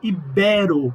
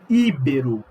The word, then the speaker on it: ibero: Se pronuncia ibero, não íbero.